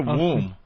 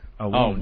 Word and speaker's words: wound: Like if someone says, hey, that's really smart that you pronounce the T in often. And what's a womb? Wound. Wound.